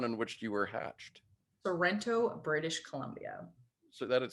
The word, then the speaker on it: Sorrento: again sorrento lorento sorrento it's named after a town in italy so if you say it like you're italian you'll get it right it's in the shoe